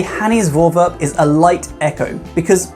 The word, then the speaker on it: Voorwerp: Voorwerpen?